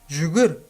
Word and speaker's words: жүгір: Жүгір, мягко произносится, да?